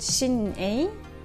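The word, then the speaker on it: Shein: by the way is called shinning I think you pronounce it chin and yes yes it's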